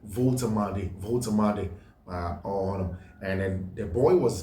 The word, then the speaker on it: Woltemade: If I mentioned Woltemade and somebody corrected me, somebody I suppose lives in Germany mentioned that the name, the W is pronounced V, like Volkswagen. That's pronounced Nick Woltemade.